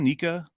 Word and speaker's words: NECA: Is it NECA? Nika? I pronounce it NECA.